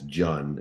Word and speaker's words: Jun: One of the questions as you starred on uh one of our shows uh as Jun, not June by the way, I'm just uh displaying all of my great ignorance in pronunciation is the king of name butchering.